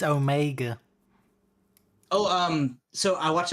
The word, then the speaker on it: Omega: saving up but um in Britain it's definitely pronounced Omega I'm done so if